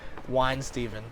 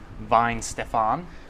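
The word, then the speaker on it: Weihenstephan: it for us yep I'm pretty sure it's called wine Steven hmm I think it's pronounced vine Stefan mmm one Steven wine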